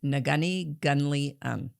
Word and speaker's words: Neghuni Ghunli-un: Uh it took me two months to learn how to pronounce the whole name and it is Nagani Guni and it means knowledge